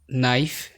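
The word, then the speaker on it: knife: বাক্যের শুরুতে কে এন থাকলে এন অনুচ্চারিত থাকে, যেমন নি, নীল, নেল্ট, নো, নু, known, knowledge, নাইফ, night, not, NEET, নব, নক, নিকার্স, নাকল, নেক। এরপরই তোমরা দেখতে পাচ্ছ সাইলেন্ট জি।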